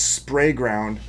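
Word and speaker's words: Sprayground: I'm sorry. I've been saying it wrong the whole time. It's spray ground.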